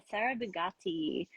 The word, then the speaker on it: Sara Bigatti: here we have SAR Sarah buatti is your is that how I'm saying your name is that right perfect very good Italian pronunciation okay yes so you